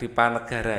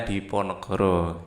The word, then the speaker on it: Diponegoro: Hai Haryo Hai Diponegoro yang biasa kita Dipanegara ya pulsanya Oh ya kalau seperti orang Jawa bacanya Diponegoro Libya Pangeran Harya hai